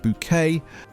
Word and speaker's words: Bucket: The specific social markers Hyacinth navigates, the Royal Doulton with the hand-painted periwinkles, the correct pronunciation of bouquet, My name is Bouquet.